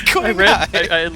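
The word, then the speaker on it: Qinghai: It didn't sound like Quing. It sounded like Quay.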